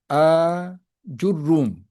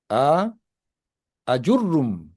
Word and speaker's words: Ajurrum: Perkataan a jurrum. Imam Sayuti pun ada sebut ni cara baca dia jur rum. A sini panjang ni. A jurrum. Ada juga yang baca pendek. A tu pendek. A ajurrum.